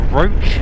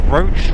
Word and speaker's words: Roche: today though we're heading back to the uh roach as I now know it's pronounced the uh roach Rock in roach funly enough which is uh it's an ancient